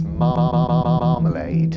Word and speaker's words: marmalade: The word is marmalade, and it's spelled M-A-R-M-M-M-M-A-L-A-D-E.